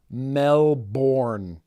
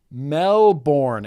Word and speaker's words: Melbourne: argue with that because it is pronounced Melborne Melborne and when you space out